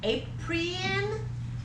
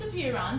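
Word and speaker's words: apeiron: beer oh my gosh okay like he thought a Prien it's actually pronounced appear on but I've heard it pronounced both ways okay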